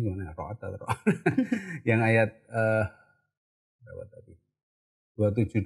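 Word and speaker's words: الرعد: Oh, surat Ar-Ra'd itu, Ar-Ra'd itu bacanya gimana? Ar-Ra'd.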